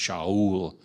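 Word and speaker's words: שאול: That was what Saul, although it's kind of pronounced Shaul in Hebrew.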